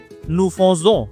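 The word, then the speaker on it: nous faisons: নু ফজো, নু ফজো আমরা করি, নু ফজো আমরা করি, এর উচ্চারণ প্যাটার্নটাই এমন, এই জন্য হচ্ছে ব্র্যাকেটে লিখে দেওয়া।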